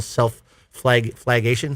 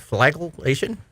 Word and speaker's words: flagellation: They get themselves so involved in their poor performance in a kind mental self-flagation.